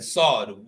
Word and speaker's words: sword: Wherever you see Psalm, okay, but it's written with a P, and then sword, the W is not pronounced.